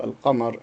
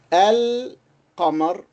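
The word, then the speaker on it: القمر: While if we pronounce it with al-qamar, we fully pronounce it. We say al-qamar, al-qamar.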